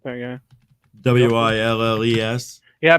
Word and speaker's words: Willes: Willes. Yeah, people always trip up on that because it's not like Bruce Willis with an I. It's ES with an E, but it's pronounced the same because you're saying Your I and is Right.